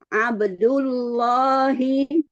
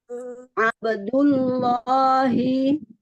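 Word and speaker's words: عبد الله: diulang Ustazah he Asan abdullahi sekali lagi abdullahi tebalkan ya menebalkannya gitu pangkal lidahnya angkat lalu ee tenggorongannya men abdullahi abdullahi Ahsan lanjut pada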